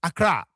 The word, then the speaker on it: Accra: As foreigners, they could not pronounce it so properly. They called it Accra, which the English spell A-C-C-R-A. So the original spelling is A-K-R-A.